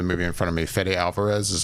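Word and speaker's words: Fede Álvarez: up for the movie in front of me fedy Alvarez is how you say his name yes director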